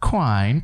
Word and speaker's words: Quine: But Quine, do I even pronounce your last name right? It rhymes with wine.